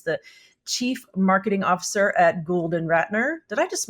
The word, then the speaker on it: Gould Ratner: He is the Chief Marketing Officer at Gould Ratner. Did I just mispronounce that again?